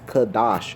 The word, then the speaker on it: Kadash: The pronunciation is Kadash, and that's actually the way that I spell it, with a K-A, simply because my worldly